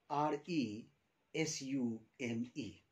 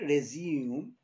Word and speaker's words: resume: here for your benefits a very nice word with the spelling r e s-u-m-e this word resume r-e-s-u-m-e and another pronunciation of this word is resume so when it is used as verb resume it means to begin to initiate to start but when i talk